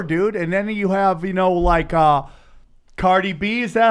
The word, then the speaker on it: Cardi B: And then you have, Cardi B, is that how you say it? Yeah, Cardi B.